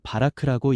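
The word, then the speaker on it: בָּרַךְ: 여기서 복이라는 히브리어 단어는 바라크라고 읽습니다.이는 은혜로 채우고 능력을 부어 생명을 자하게 하시는 하나님의 주도적 축복을 뜻합니다.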